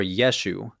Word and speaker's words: Yeshu: sounded more like yeshu or yeshu completely dropping off the final guttural letter because of a linguistic Quirk of a Galilean accent as the argument goes Galilean Aramaic speakers were supposedly very bad at pronouncing gutural letters there is some evidence